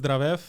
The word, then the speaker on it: Zdravev: name for a reason I uh I can't pronounce it so go ahead and tell everyone who you are my name is dravev I'm a assistant broker with General properties uh